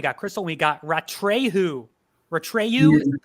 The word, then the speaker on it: Atreyu: Ratreyu is the correct pronunciation.